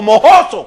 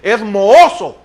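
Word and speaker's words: mohoso: el centavo moso o mojoso como dicen algunos es moso el español es moso porque la H no se pronuncia como J ahí andamos con unas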